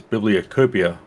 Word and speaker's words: bibliocopia: witty oh and and the card is bibliocopia like like cornucopia but with books like that's how i